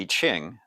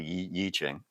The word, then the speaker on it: I Ching: Wuji generally, if you look at the I Ching, the Book of Changes, or the Yi Ching, however you want to pronounce it, Wuji is the no extremity state.